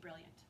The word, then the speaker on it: brilliant: It says e, but it's an I. It's so weird. So you could pronounce this brilliant, but we kind of like smooth it all together and just say brilliant.